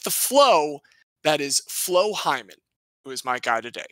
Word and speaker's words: Hyman: This is, to be fair, this is spelled H-Y-M-A-N. It is Flo just Hyman. Just like Hyman.